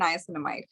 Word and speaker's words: niacinamide: Is that how it's pronounced? Yeah, salicylic acid and niacinamide.